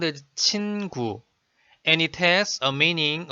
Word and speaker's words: 친구: Another example, the word 친구 is made of syllable 친 and syllable 구, sound as 친구, and it has a meaning of a friend.